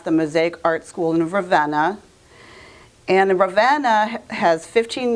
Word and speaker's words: Ravenna: i found the class in Ravenna which I used to call Raveena before I know how to pronounce it and it was an